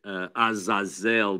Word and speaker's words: Azazel: Okay, so Azazel is the name, or some might pronounce it Azazel, but it is found in Leviticus 16.